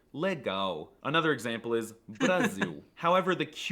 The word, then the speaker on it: legal: The L is also quirky because it's often pronounced as a W, like in the word legal. Well, it looks like it should be pronounced legal, but it's actually legal.